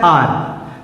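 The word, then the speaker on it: heir: article लगेगा और चूंकि यहां पर एच साइलेंट है और इसका उच्चारण किससे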